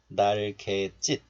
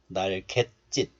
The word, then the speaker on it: 날갯짓: So you can pronounce both 날개짓 and 날갯짓. Both are fine.